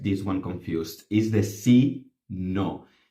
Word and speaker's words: sino: one confused is the C no same pronunciation written differently causes a stupid amount of